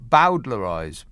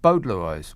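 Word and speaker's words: bowdlerize: gordon says it's bodelarize with bo pronounced as in bow wow wow bowdler eyes bowdler eyes well you you say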